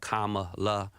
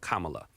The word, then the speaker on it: Kamala: that right kamla like Kamala let's do that together comma comma like you know the punctuation mark K La that's real easy right Kamala um because it just